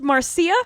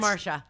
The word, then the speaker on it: Marcia: It's not pronounced Marcia. No, that's not. No, it's Marcia.